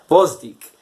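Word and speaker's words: Gvozdyk: see him fight grossie the best Bostick you don't pronounce the G I learned that I'd love to see him fight Bostick that's the fight I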